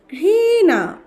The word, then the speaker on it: ঘৃণা: ঘৃণা, ঘ রিকার ঘৃ, মূর্ধন্য ন আকার না, হয়ে গেল ঘৃণা।